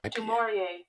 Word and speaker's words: du Maurier: Du Maurier.